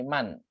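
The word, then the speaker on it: مَنْ: Jadi bukan min ya, tapi man.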